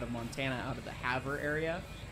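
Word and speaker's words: Havre: Montana out of the Haver area Haver Montana h-a-b-r-e because it's spelled weird anyway um so they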